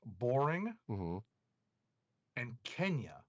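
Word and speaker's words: La Borinqueña: in your mind but it's actually pronounced like two separate words boring and kenya in i was not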